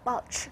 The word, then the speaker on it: botch: 表示的是因工作笨拙而把东西弄坏，叫 botch。它的发音像不像爆吃？